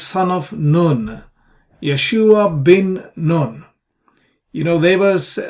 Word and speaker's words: Yeshua: on the syllable so the second syllable here shu is the stress syllable or a tonic syllable and we pronounce Yeshua Yeshua so a is a